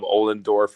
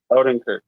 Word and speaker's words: Odenkirk: Bob Ollendorf or whatever the fuck. He's been around. I'll look it up. His name. It's pronounced differently. Odenkirk.